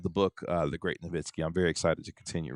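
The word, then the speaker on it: Nowitzki: Well, like Durk says his last name is Noitzky. Stop lying, Dirk. It's Nitzky.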